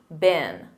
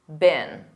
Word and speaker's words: been: Let's review the verb been, which is the past participle. And remember that pronunciation. Repeat after me, been, been.